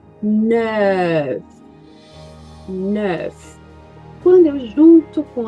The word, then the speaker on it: neuf: O nef é boquinha de o e pronuncio E. Neuf.